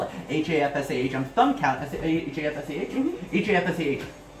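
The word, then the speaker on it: Hafsah: you spell that? H-A-F-S-A-H. H-A-F-S-A-H. F-S-A-H. Yep. Hafsa. Very cool. Yep. Okay. Hafsa.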